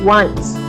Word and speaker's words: once: Bacanya bukan once ya, tapi once.